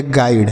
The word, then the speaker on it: guide: GUIDE, इसे पढ़ेंगे G से ग हो गया, U का उच्चारण अ के रूप में, आई से पढ़ेंगे आई और DE से डॉ, तो यह हो गया गाइड।